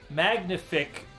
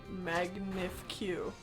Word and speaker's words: magnifique: the correct choice here i pronounced magnific very well i think you mean magnif q yes magnif q yes that